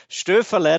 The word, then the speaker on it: Stöferle: And it seems you practiced pronouncing my last name for quite a while. So Stöferle, that was pretty good.